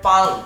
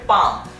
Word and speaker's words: PALM: বাট যখন আমরা লিখি PALM অনেকে মনে করে পালম, মানে একটা এল স্পেলিং করে, বাট এখানে কিন্তু এলটা উচ্চারিত হবে না, এটা হবে পাম, মানে এলটা এখানে সাইলেন্ট আকারে থাকতেছে।